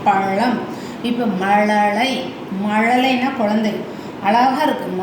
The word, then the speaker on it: பழம்: அடுத்து இது வந்து என்ன செய்யும், நாக்கு ஃபோல்டு பண்ணி பேக்கில் போய் சொன்னோம்னா இந்த ழ வந்துடும். பழம் அப்படி அந்த உச்சரிப்பு தான் பழம்.